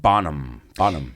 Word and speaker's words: Bonham: En inglés, John Bonham. la H se pronuncia como es silencioso, ¿no? John Bonham.